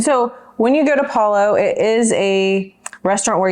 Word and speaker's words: Palo: It's not Palo. Don't say Palo. It's Palo, like follow.